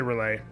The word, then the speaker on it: Relay: "'Twas the night before Christmas when all through Relay, we're gonna say Relay. Not a creature was fighting, not one in a fray." Oh yeah, see, it has to rhyme with fray.